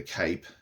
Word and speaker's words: cape: In here, in the cape, we have a silent E, which is raising the sound of the previous vowel, of the preceding vowel. Okay, instead of it saying cap, it changes it to cape.